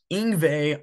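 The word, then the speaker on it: Yngwie: and number five is inve malmstein inve is spelled y n gwi IE he is a Swedish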